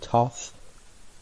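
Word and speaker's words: Thoth: o ug mount 12 is going to be tough th o th 13 is gonna be Chum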